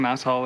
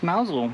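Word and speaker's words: Mousehole: It's It's not actually Mouse Hole. It's actually pronounced Mousel apparently.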